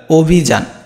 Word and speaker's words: অভিযান: Same, যে অ থাকে, শব্দের শুরুতে যদি অ থাকে তাহলে অটা কী হয়ে যায়, ও হয়ে যায়, আর রস্যিকার আছে রস্যিকারই হবে, এখানে আর কোনো চেঞ্জ নেই, অভিযান।